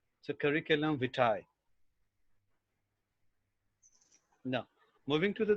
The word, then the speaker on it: curriculum: you talk about the general communication we usually pronounce this word curriculum it is it is in schools it is in schools and colleges but the right pronunciation is curriculum so curriculum vitae now moving to the the next one